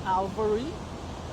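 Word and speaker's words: Alvery: My first name is spelled um A L V E R Y. That's Alvarey.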